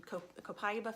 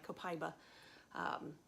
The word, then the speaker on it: Copaiba: you Copaiba fans, and it is Copaiba. That's how I keep pronouncing it. I've got to correct my Copaiba, which I'm still not convinced, but I don't know. But everyone is saying Copaiba. Copaiba.